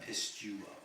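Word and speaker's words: πιστεύω: That is the third person singular, present middle passive indicative from Pisteo. He sure it is believed. Yep. And it would be, you just want to pronounce that pistuo.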